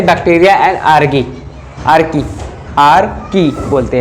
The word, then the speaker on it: Archaea: आर्की बोलते हैं। आर्की की स्पेलिंग देखिए बेटा ARCHAEA, आर्की।